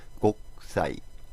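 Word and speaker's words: 国際: 근데 사시스세소 앞에 쿠니까 초금 발음으로 쿠를 으스로 해줘서 곡사이.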